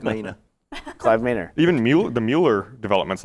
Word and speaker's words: Mueller: Even the Mueller development's like that. It's supposed to be Miller. No, really? It's not. Yeah, I'm pretty sure Mueller's supposed to be pronounced Miller. Well, why would it be spelled M-U-E-L-L-E-R?